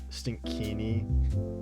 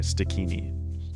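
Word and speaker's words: Stikini: Stinkini. I I kind of pronounced it. There's no N in the beginning. It's s t i k i n i. Stini.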